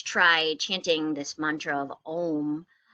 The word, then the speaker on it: Om: of the universe and it's om that's how it's spelled om it's actually made up of three symbols that sound like ah hmm it's more like a vibration over your lips as you make that final syllable and those three parts